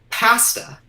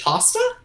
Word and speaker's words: pasta: But one that recently surprised me is pasta. Apparently in the States you pronounce it pasta?